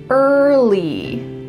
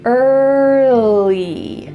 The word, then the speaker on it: early: Make sure that when you say the L, your tongue is touching the back of your teeth. Lly early. Early. Don't add another sound in there. I often hear English learners say early, but that uh in the middle isn't natural.